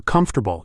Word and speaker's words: comfortable: So for comfortable, it's dum da da.